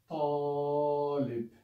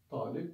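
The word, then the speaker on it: طالب: For example, this word, Talib. Yeah? Talib means student. So ta, it's not talib, but talib, talib, talib. So immediate longer.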